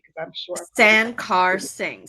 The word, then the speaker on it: Sankarsingh: correctly because I'm sure San car sing so three syllables it looks scary but it's it's pretty easy okay you guys got